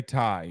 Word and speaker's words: Ty: This is how you say Ty. You ready? Ty. Ty. Ty. Ty Floyd. You gotta hope Ty Floyd can get there. One syllable. It's not It's not six.